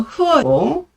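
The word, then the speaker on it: 荷: 특히 이 연꽃을 의미하는 이 화자가 중국식 발음으로 흐어잖아요. 그런데 화합의 화자가 중국식 발음으로 흐어고 거기다가 이 합할 합자도 중국식 발음으로 흐어입니다.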